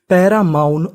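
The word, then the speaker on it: paramount: ओ यू एन ओ यू एन को हम लोग पढ़ते हैं औन क्या पढ़ते हैं आउन तो इतनी मीनिंग बनी पैरामाउंट और आखिरी में टी है तो पूरी meaning पैरा माउंट पैरामाउंट पैरामाउंट पैरामाउंट का मतलब होता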